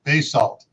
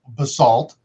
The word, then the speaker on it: basalt: trump's comment on pronunciation it depends what part of the united states you're from on how you pronounce basalt there where there is a ton of bay salt it's pronounced bay salt you go uh to